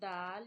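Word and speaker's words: دال: And you read Dal, you touch your tip of the tongue to the roots of your upper front teeth. So Ta and Dal pronunciation is same.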